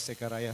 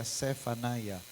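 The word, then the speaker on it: Zephaniah: Parang mali yung bigkas ko kaninang first service. Hindi pala searaya. Sepanayah 39.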